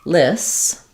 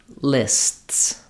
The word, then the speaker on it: lists: the additional consonants so I would say for example lists list and finally lists So you you're making a s sound that continues you're stopping the air briefly and then going back to that s sound um so you don't you won't hear the T releasing because it's releasing into the S when I say list list